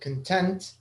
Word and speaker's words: content: the first syllable but content when you're happy about something or you're satisfied uh you you stress the second syllable content all right choose